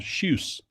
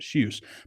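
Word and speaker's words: Kjus: It's a brand called Shuse. That's how you pronounce it. Shuse.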